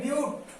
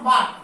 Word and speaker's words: but: 4 হলে বিউট, BUT, নট বাট, বাট উচ্চারণ করবে না, এখানে করবে বিউট।